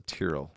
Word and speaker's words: Tyrrell: I was forced while working there to call it the Tyrrell because that's how the last name is pronounced.